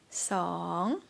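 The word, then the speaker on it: สอง: focus on the tones it's not noon but song and be careful don't rise up low see ha one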